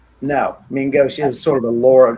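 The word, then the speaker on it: main gauche: Uh, it's from the French meaning left hand. So it is spelled m a i n e and then a space and go is g a u c h e.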